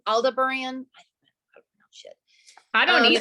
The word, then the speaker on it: Aldebaran: It's Aldebaran. I don't know how to pronounce shit.